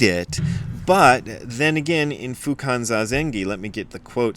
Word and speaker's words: Fukan Zazengi: So it's Fukan Zazengi, because when you see a G in transliterated Japanese, it's always pronounced ga and never ja, but a lot of people see it and think it's like an Italian word and think it's Fukan Zazengi and think it's a